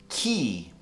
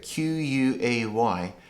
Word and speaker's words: quay: So it's pronounced key. Key. Just like a key for the door. Key. But it doesn't look like that when you look at it. Q-U-A-Y.